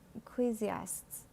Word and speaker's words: Ecclesiastes: Let's check the pronunciation for this man. Ecclesiastes.